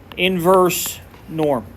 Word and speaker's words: invNorm: calculator is what's called IV norm and it's pronounced inverse Norm is what is the way that is pronounced